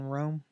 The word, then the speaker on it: Rhome: So it's Pronounced like Rom. I've been saying Rome all this time.